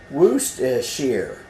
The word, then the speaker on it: Worcestershire: This is how you're supposed to say what this is. Worcestershire. Worcestershire is how you say it. The R, 2 of the R's is about silent. The C, the E is silent. All those crazy things.